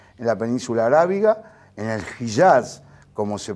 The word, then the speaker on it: Hijaz: clanes ahí en la península arábiga, en el Hijaz, como se pronuncia realmente, que era el Sharif Hussein, el